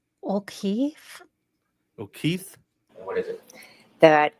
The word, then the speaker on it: O'Keefe: She How did she pronounce his last name? O'Keefe.